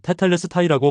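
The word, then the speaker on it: τετέλεσται: 다 이루었다.이 이 말이 원문에서는 테탈레스타이라고 발음하는데 상업적인 용어로 그 뜻은 값을 다 치루었다, 다 지불했다입니다.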